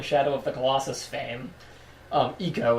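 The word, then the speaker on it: Ico: of the colossus fame eco excuse me I thing as the actual pronunciation I used to say I go um uh which he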